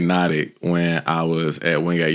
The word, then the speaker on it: NOTIQ: So NOTIQ, and here when I asked him, I was like, "How do you pronounce this?" He said, "Like hypnotic." So that tells me all